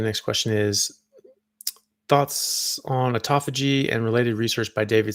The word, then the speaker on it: autophagy: And um uh and autophagy. So you know autophagy or autophagy, which I think is probably more uh proper way of pronouncing it, is um is when